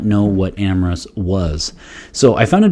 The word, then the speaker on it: Amyris: going to go with amorous and i'm going to swallow up that little y in the middle just like we would